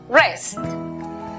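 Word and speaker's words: wrest: La W antes de R al comienzo es muda. Por lo tanto, la pronunciación para la palabra arrebatar es rest.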